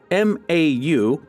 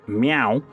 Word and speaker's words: Mau: Known as MAU, which is likely pronounced meow, they were considered sacred animals and praised for their effectiveness in killing snakes and controlling vermin.